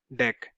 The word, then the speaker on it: Deque: Array D क्यू in Java is a class that implements DQ interface, pronounced as DEC, which stands for double-ended queue.